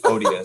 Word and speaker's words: odious: you said it right like odie from garfield odious it's been an odiously